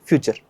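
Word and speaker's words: future: इसको फुटूरे नहीं बोलना, फ्यूचर बोलेंगे भैया, क्या बोलेंगे, फ्यूचर। वापस बोलिए, फ्यूचर।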